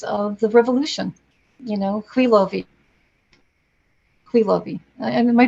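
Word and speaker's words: Khvylovy: You know, Khwilovi. Am I pronouncing that correctly? Khwilovi, in particular. Khwilovi.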